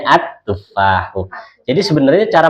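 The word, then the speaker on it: التفاح: Kalau al-tufahu ganjel ya. Iya, kayak ya udah yang ganjel buang aja Bu. Ya, jadi bacanya at-tufahu.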